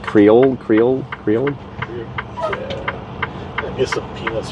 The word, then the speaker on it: Creole: It's like Creole.